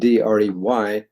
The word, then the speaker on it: Audre: Anyway, the net result was Audre Lorde, who spelled her name originally Audrey, but she dropped the Y off, apparently because she wanted it to rhyme with her last name, Lorde.